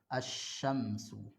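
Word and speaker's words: الشمس: Cara membacanya seperti tadi, mentasydidkan huruf syamsiyah. Asy-syamsu.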